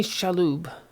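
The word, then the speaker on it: Shalhoub: And Tony Shaloo, I think how you say his name.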